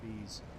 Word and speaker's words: Spees: He'll tell us it's not pronounced that way. He says it's pronounced Spees.